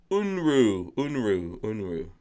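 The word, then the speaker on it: Unruh: And he says it's pronounced Unru.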